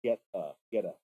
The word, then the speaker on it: Goetta: Geta, I think it's Goetta. I want to say. Look that up real quick. Meanwhile, you're telling me about sausage in Ohio. Gouda. No, it's pronounced Geta.